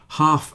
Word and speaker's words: half: Half and calf also have silent L's. A calf is a young cow, if you don't know. So half and calf rhyme with laugh, but make sure you know how to pronounce laugh.